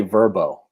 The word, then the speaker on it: VRBO: So you're having a phone conversation and you're having a phone conversation about, let's say, Verbo.